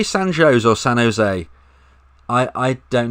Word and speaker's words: San Jose: We'll go with San Jose then.